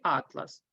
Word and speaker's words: атлас: само як у слові атлас якщо в слові атлас наголос падає на перший склад то це збірка карт якщо на другий склад то це тканина скористаємося здобутими знаннями поставимо